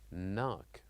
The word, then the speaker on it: knock: the letter K but we don't pronounce it we say knock knock also one other example